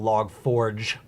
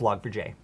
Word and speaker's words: Log4j: um in my opinion it's not log forge it's log for j j gets looks yeah the j is capitalized too so i would say